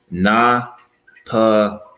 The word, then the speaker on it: Naphtali: Now the Hebrew word is Naphtali. Let's get that right quick. All right. And this is concerning the so-called indigenous people from Chile to Argentina. Mm-hmm. All right. Now it's pronounced Naphthalia. All right, Naphthalia.